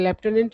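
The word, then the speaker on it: lieutenant: देखिए याद नहीं रहता इसका उच्चारण तो होता है लेफ्टनंट और वर्ड कुछ मतलब कि देखते हैं एफ नहीं भी है फिर भी लेफ्ट हैं इसको पढ़ा जाता है अब देखिए ये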